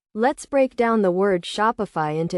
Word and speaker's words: Shopify: The correct pronunciation is shop fee with a slight emphasis on the first syllable. It is essential to note that the pronunciation is not shop e or shop iie but rather shopify fee.